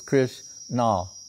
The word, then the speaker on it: Krishna: about christianity barnaba saying one name of krishna two syllables krish nah right jagannath he could